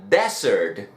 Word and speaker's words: desert: Nótese que la pronunciación es diferente y la escritura también. La primera sería dessert. Dessert, que quiere decir postre. Dessert. La segunda sería desert, que sería desierto, como el Sahara, por ejemplo. Desert. Así que ya sabes, no solamente la escritura es diferente, sino el acento en cada una de las palabras.